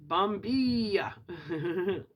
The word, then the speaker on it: Bombilla: The Bombilla. Pronounced Bombilla. Not la. The L is silent, I guess. Pronounced Bombilla.